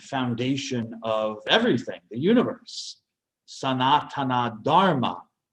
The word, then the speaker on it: Sanatana Dharma: Sanatana Dharma, or sometimes pronounced Sanatan Dharma. Sometimes they drop the final A in Sanskrit.